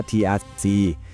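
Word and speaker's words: TRIZ: ระบบ คิด ที่ แบบ ทรง พลัง มาก สำหรับ การ แก้ ปัญหา ที่ ดู แล้ว เป็น ไป ไม่ ได้ เลย ทริ เนี่ย อ่าน ว่า Trิ นะ ครับ มัน เป็น ตัว ย่อ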